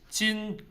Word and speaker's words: 今: 今, 明, 后. 今, remember the sound of jeep touching your lower teeth? 今 flat.